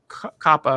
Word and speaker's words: COPPA: had to do with COPPA or COPA. Is COPPA the right way to say it instead of COPA? Or I think you can go either way.